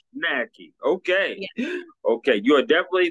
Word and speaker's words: Hojnacki: I don't butcher it it's hjj knacki it's very polish knacky okay okay you are